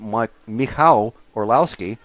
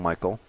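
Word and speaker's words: Michał Orłowski: the Polish driver of Mike Al Orlowski is how you're meant to pronounce the name in proper polish but we call him Michael or most people call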